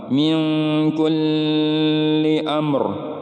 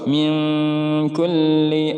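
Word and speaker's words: من كل: menyempurnakan huruf dalamnya saja tidak boleh di tahan lama meongku liamo ini salah harus minkulli Among hanya menyempurnakan grup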